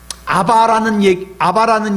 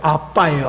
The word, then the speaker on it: 아바: 여러분, 성경에 보면은 아바라는 이름이 나오죠. 아바, 아버지. 원래 이 정확한 발음이요, 우리랑 똑같아요. 아빠예요, 아빠.